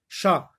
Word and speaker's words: chat: Ch avec A, chat. Et là, vous avez une lettre muette.